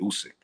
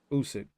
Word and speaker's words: Usyk: Usyk. Usyk.